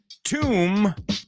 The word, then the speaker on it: tomb: and the third one tomb rhymes with womb where we all started